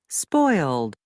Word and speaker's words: spoiled: La S es parte de una sola sílaba.